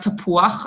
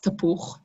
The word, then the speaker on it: tapuach: Yes, chet, if you see vav and chet, then it's uach. It's not uch, it's uach, tapuach. There are other words in Hebrew when that happens, so fantastic.